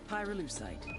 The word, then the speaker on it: pyrolucite: Pyrolucite, key syllable pyro, by the way, is